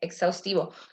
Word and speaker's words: exhaustivo: dos guitarras crisis exhaustivo exhaustivo cómo se pronuncia es atractivo exhaustivo todo lo que es con x por más que la h esté atrás de atrás de esa letra se pronuncia como una c y una s juntos por eso cuando ustedes